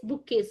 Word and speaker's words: bouquets: This is bouquets, BOUQUETS. Here T is silent. Bouquets. Okay, it is to be said as bouquets, pronounced as bouquets.